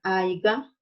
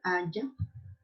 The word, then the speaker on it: haya: Cuando decimos haiga en lugar de haya, es ejemplo de un barbarismo.